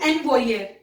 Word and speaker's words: envoyer: It will not be envoyer. Please remember, it's envoyer. I repeat, envoyer.